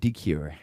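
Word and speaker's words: DeCuire: My last name is D E C UI RE. Yes. Yes. And you pronounce it dure.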